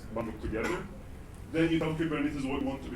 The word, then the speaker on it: Kubernetes: One thing that I'll tell you though, so you can see that Kubernetes it's a Greek word.